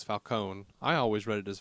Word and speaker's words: Falcone: if they were still in Italy it would be Falcone um but a lot lot of lots of Italian immigrants when they came here they Dro that they dropped that uh that extra vowel sound at the end mhm so I it